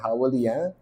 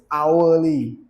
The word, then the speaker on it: hourly: time frame all right howly howly howly the H is silent in hour I I learned this this so it's hourly okay the hourly time